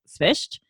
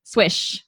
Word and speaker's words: Swyszcz: So if you want the actual way to pronounce it, it's pronounced Swyszcz. So it's like SV and then a soft ch at the end.